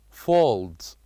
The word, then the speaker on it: folds: the second sound and folds folds folds this words ends with the sound of Z which match the first one folds folds and then